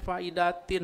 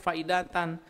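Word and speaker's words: فائدةً: Salah tuh bacanya. Faidatin harusnya faedatan.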